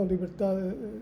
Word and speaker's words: libertad: No, libertad is a little bit different. AD, and at the last part in English is TY, liberty. In Spanish, libertad.